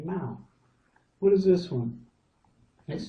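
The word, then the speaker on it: เมาส์: And now this is the S sound, but we're not going to pronounce it because it's got this tape over the top, so it becomes silent. Usually they do this if it's an English word, again, that's been translated into Thai, and so the Thais will say it without this letter.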